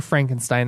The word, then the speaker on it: Frankenstein: I don't know that's that is the german pronunciation frank enstein property frank enstein due to the success